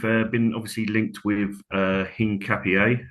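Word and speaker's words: Hincapié: Um we've been obviously linked with uh Hing Capier, as I found out. That's the way you pronounce his name.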